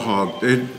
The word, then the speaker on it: quahog: How do you pronounce it? Quahog? Quahog.